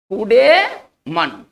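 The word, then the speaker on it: coup de main: इसको पढ़ेंगे ना कूडेमन, इसको पढ़ेंगे कूडे, है ना, इसका उच्चारण इस तरह से करेंगे कूडेमन।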